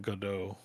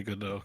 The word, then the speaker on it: Godot: I don't know why I think people don't know why we're saying Godot in chat. It's because in French the T is silent.